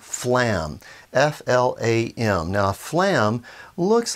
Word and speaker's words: flam: getting get two sounds notice even the word phalam there's actually two sounds flame so it's not just a one syllable it's actually kind of two syllables phlegm phlegm phlegm now